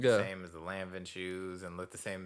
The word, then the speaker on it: Lanvin: And I was just like, I'm like, bro, these, how you pronounce the name again? Lanvin. Yeah, my fault. Lanvin.